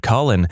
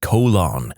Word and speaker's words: Colin: Conversely, I went to high school with a kid named Colin, and our physics teacher constantly pronounced it colon. Like, how many times does he have to correct you, lady?